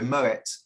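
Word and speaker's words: Moët: good question but also think of it like it's Moet it's not Moe so Moet and it's so it's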